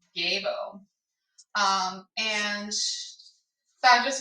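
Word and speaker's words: Gebo: too uh gay boo so I've been saying sibo and the pronunciation is actually not that way I discovered um so the pronunciation uh Jibo it's not Jibo it's gabo um and so I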